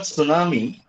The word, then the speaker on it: tsunami: So in the word tsunami, T for silent.